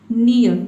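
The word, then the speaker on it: near: कि जो ये आधा र का साउंड है ये ऑप्शनल है, यानी कि आप चाहें तो इसको साइलेंट रख सकते हैं या फिर हल्का प्रोनाउंस आपको करना है। नियर, ठीक है, नियर मतलब होता है पास।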